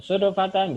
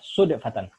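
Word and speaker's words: صدفة: Ini bacanya bisa sudafatan, bisa sidfatan ya. Bagian baca sodafatan ya. Tapi yang lebih pasnya baca sudfatan.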